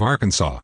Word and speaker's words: Arkansas: the other english and the french don't pronounce the s at the end of arkansas so it eventually got